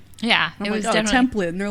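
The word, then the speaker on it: Templet: 18 year old anthony tomplay which his name looks like it would be pronounced like template i noticed that some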